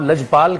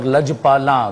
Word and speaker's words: لج پالاں: دے، اب جب صرف آپ لج پال کہہ رہے ہیں تو اس میں تو نون گننا ہے ہی نہیں نا، میں لج پال اور لج پالاں دونوں لفظ الگ ہیں،